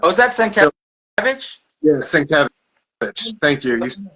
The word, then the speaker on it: Sienkiewicz: Yeah, Sienkiewicz. Thank you. You pronounced it much.